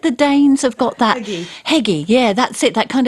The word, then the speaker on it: hygge: Heggy. Yeah, that's it. That kind of, and that's Hygge, like, hygge. How do you say it? How did you say it? Hygge. Hygge. It's like nougat with hygge.